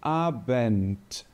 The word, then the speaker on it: Abend: e nós temos agora o d pronunciado como um t de tatto então ele vai ter essa pronúncia de T Quando ele aparecer no final de alguma palavra ou então quando ele estiver antes de alguma consoante por exemplo na palavra noite em alemão eu digo abent perceba que aqui no